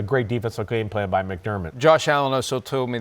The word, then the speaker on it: McDermott: McDermott he was all over Josh McDaniels' offense yesterday.